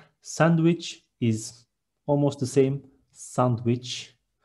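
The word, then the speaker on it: sandviç: Next one, sandwich is almost the same, sandwich. We don't have letter W in Turkish. There is V, and we see Ç in the end, and it is sandwich.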